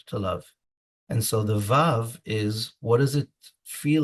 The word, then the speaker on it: vav: V that flips back in the yemenite pronunciation of the letter VAV you say wow so I've been using